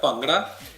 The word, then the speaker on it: Bhangra: you're right on target we call it ponga and spell it the way you just saw it to bhangra Bangladesh is